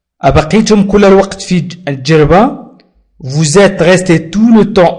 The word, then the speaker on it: vous êtes: Vous êtes resté, vous êtes S بين U و E. لذلك وضعنا لليزون وقلنا ونطقناه على شكل Z.